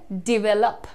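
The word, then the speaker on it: develop: है ध्यान से देखिएगा यहां पर आपको कहना है डिवेलप D well up डिवेलप proper पहले जब बोलोगे तो थोड़ा स्ट्रांग लगेगा सुनने में पर वो धीरे-धीरे डिवेलप से डेवलप बनता है डेवलप डेवलप डिवेलप डेवलप right so अब आप डेवलप नहीं बोल रहे हो आप डेवलप बोल रहे हो डिवेलप ठीक है ये गलती मैं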